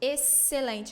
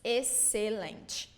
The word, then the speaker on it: excelente: So excelente is not excellent like in English, it's excelente. Okay?